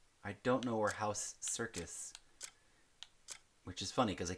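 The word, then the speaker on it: Serkis: don't know where house circus, which is funny because it keeps making me think of like it's spelled s e r k i s, but it makes me think of circus, you know, like which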